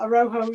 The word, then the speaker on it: Araujo: Yeah, and if you knew some Spanish, you'd know that the J's are her, isn't it? The H.